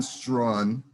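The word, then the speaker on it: Straughan: pronounced i i'm sorry spell your last names for the s s-t-r-a-u-g-h-a-n so it's strong and girl writes what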